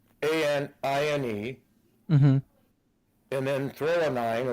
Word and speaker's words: threonine: and then threonine, it's spelled, I'm probably not saying that right, it's spelled THREONINE.